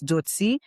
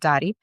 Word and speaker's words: Dotie: It's a little tricky because the real pronunciation is Dotie, but in English you get Dotie.